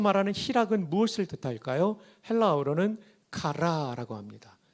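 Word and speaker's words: χαρά: 헬라어로는 카라라고 합니다. 젊은 분들은 걸그룹 카라를 떠올리겠지만 걸그룹 카라는 K-A-R-A고 희락의 카라는 C-H 발음이라는 것을 기억하시면 좋겠습니다.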